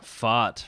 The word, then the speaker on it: Pfaadt: Fott, right.